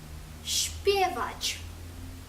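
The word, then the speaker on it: śpiewać: чвіченя вправа ч чвіченя та літера ещ ш звук щ наприклад у слові співати шпівач ч шпвач Якщо вам сподобалися наші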